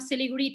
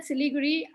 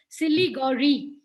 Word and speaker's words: Siliguri: how he used to so when i said siliguri he tried to pronounce it and he still calls it silly gory so he so this is how so he